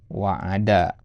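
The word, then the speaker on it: وَعَدَ: Nah, ini bacanya wa'ada. Ya. Ya. Kalau wa'ada, ya, itu maknanya menjanjikan kebaikan. Ya.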